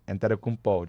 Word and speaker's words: Antetokounmpo: Don't you love how I pronounce that? I love saying his name, Antetokounmpo.